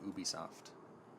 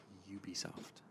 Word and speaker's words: Ubisoft: You should know that it's not pronounced Ubisoft. If it's your passion, We already had this discussion. it's Ubisoft. Are you sure? Yes, because it stands for ubiquitous software.